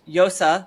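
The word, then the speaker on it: Llosa: um uh Mario Vargas Yosa. I'm learning Spanish so I get to pronounce the double L's as a Y today even though usually I would say lossa like I say burrito not burrito.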